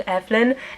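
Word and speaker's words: Eibhlín: a while to wrap my brain around saying Evelyn every time I looked at that word and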